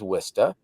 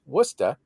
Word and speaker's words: Worcester: But for the longest time, I knew it was Worcester.